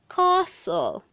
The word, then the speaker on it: castle: verb number 87 says castle castle north castle the t is silent word number 88 says